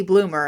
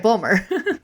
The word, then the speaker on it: Bulmer: in an interview and they introduced me as Katie Bloomer and I'm like that's fine whatever but you said it right you said it right bumer when I sent her